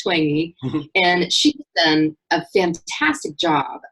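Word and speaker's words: Twenge: called ijen and by 20 it looks like twinge but it's pronounced 20 and she's a fantastic job of researching you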